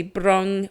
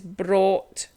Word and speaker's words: brought: bring it's not a often people say Bron Bron is not a word it's brought thought is the past tense